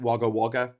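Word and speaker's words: Wagga Wagga: There's a place here called Waga Waga, but they pronounce it Waga Waga, which is hilarious.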